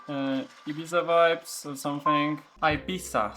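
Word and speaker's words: Ibiza: Ibisa. Sorry, that's actually how I should pronounce it.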